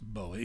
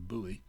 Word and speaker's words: Bowie: upper right jim bowie sometimes pronounced bowie but more often buoy who was well he